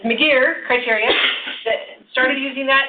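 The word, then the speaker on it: McGeer: used since 1991 there was a thing called Miggy R criteria which almost you know many percent of people pronounce it correctly because we all want to put our in it right career but it's m'dear criteria that started using that in 1991 it's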